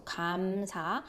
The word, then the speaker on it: 감사: So if it's in the initial position, it sounds similar to God. So 감사.